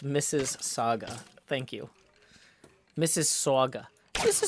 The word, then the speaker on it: Mississauga: It's pronounced Mrs. Saga.